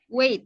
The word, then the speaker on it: weight: Wait ya, GH-nya tidak dibaca.